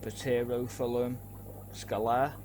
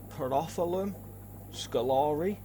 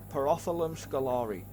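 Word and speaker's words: Pterophyllum scalare: quite a lot so I used to say pum Scala um because I didn't realize that the tea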